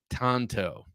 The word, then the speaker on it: tanto: Correct Japanese pronunciation is Tanto.